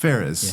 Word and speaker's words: Fares: Fares. Yeah. Yeah, that's how I would say it for sure.